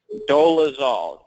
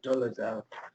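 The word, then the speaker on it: Dolezal: spell it for me dozal spelled pretty much what how it sounds d o l e z- l c a doal okay well I guess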